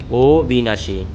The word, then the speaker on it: অবিনাশী: অবিনাশী এর উচ্চারণ হবে ওবিনাশী।